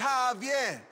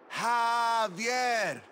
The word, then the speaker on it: Javier: It's Javier. It's pronounced like an H. Javier.